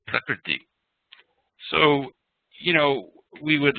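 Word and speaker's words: prakṛti: Vasant Lad and you talk about things, you're not going to make a mispronunciation like Prakruti instead of Prakriti.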